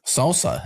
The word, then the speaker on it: SLSA: Salsa. That's how you say it.